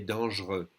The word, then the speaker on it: dangereux: Il est dangereux, and again we're going to skip this E and say il est dangereux. No X, don't say the X.